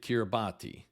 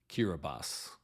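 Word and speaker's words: Kiribati: b a t for the longest time I pronounced it kirati but it is actually pronounced kirbas anyway the Republic of kirbas gained its independence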